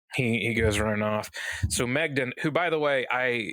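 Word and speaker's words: Maighdin: name in the notes because the way that it's spelled actually is like Magdane or something. I don't know. It's whatever. And Megden is the way that they say it in the audiobook.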